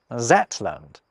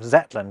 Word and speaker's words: Zetland: Yoch at the start, a letter that's frequently misread as a Z. Hence, the name of Shetland is sometimes recorded as Zetland. The Marquess of Zetland is actually still an official title.